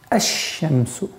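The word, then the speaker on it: الشمس: Ашшамсу. Обратите внимание, ашшамсу. То есть мы произносим фатха здесь и переходим на удвоенный знак. Лям, буква лям в артикле аннулируется, и получается «эщемсу».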